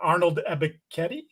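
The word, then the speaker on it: Arnold Ebiketie: Um, Morgan got undressed by a filthy uh spin move by uh Arnold Ebetti.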